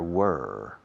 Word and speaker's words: were: There were several problems yesterday. Pronunciación. There were. Rima con quemar.